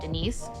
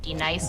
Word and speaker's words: D-Nice: You say your name right now. Denise. Say it right. Denise. Correctly. Denise. Right. Denise. Right. D-Nice.